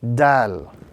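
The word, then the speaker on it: دال: This letter is pronounced when the tip of the tongue touches the base of the upper two front teeth.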